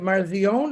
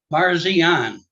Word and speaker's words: Parsian: going to say your last name is that marzion is that I pronounce it or I'm going to say it wrong so you just correct me please sir Parsian I was close yeah you were yeah